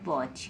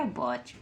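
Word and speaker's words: watch: में आ रहा है किसी वर्ड में भी किसी भी स्पेलिंग में आपका टी सी एच आ जाता है तो वहां पर हम च पढ़ते हैं क्या पढ़ते हैं च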